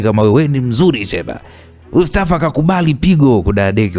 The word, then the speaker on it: Shehna: wewe wewe ni mzuri shena ustafa akakubali pigo kudaya deki walai hata mimi mwenyewe nakuambiaje shena mzuri wewe basi haral shena shena shena shena kweli shahna alfu shena yaani jina lake linatamkwa shahna eh bwana tukutane sehemu